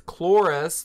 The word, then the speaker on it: Cloris: Maule it's really close it's Cloris like Clorox Leachman